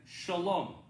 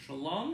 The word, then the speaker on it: shalom: with my jewish friends i always say to them shalom but when i'm with my palestinian christian friends they say i say to them salam same thing but one pronounces the sh and the other one does this well let's think about